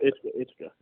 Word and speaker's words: Ithaca: you to be released by, what was it, Ithaca? Is that how you say it? Ithaca? What's that? How do you say the college? Ithaca College? Oh, Ithaca.